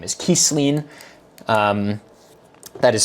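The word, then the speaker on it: Kisline: And and apparently this elf man's name is Kesleen. Um, that is spelled for the people in chat.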